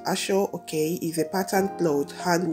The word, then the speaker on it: Aso-oke: history of ashok fabric ashok pronounced ashore okay is a patterned bloat